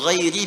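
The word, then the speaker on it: غَيْرِ: Qara al-jumhuru ghairi bil jar. Mayoritas ahli qiraat membacanya menggunakan kasrah, ghairi i.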